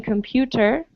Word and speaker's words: computer: recorder uh and so here is a t in computer well if i say it slowly i pronounce it as a t but speaking normally i would just say computer so for us it sounds more like a d computer so i have a